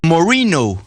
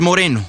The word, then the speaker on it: Moreno: Néstor, su apellido lo pronuncia Moreno, pero es Moreno, Bernie Moreno, hermano menor